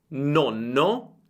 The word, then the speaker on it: nonno: Il mio consiglio per pronunciare bene le doppie è quello di accorciare la vocale precedente alla doppia. Per esempio, nonno, nonno, nono, nono. Senti la differenza? Nonno, molto breve, nono, più lunga.